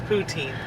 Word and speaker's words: poutine: see towards you like Putin but then is that how you say it no just Putin and you're not okay you know what stop it's poutine I'm trying to teach